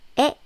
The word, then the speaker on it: 의: But when it's used as a possessive marking particle, the pronunciation is 에, as in 나의. 나의 is acceptable, but more commonly, 나의 is used in Korea.